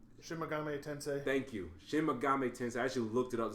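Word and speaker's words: Shin Megami Tensei: new Shin mam Shin Mame tensei thank you Shin Mami tensei I actually looked it up to see if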